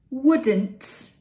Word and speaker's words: wouldn't: shouldn't wouldn't couldn't for these conditional words these ones are negative conditional words but for all conditional words we have this we don't pronounce the L sh w c the